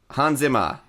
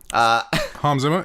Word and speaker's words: Hans Zimmer: You've pronounced Hans Zimmer wrong. Hans Zimmer. Hans Zimmer.